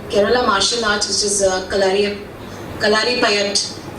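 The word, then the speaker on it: Kalaripayattu: First is on the Kerala martial arts, which is Kalari Payat. That's how it's pronounced. But it's spelled as Klaripayyattu.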